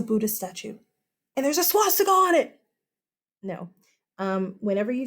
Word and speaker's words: swastika: Okay, first of all, it is not a, look at my lips, swastika. Yeah, it's spelled with a W. German. It's not how it's said.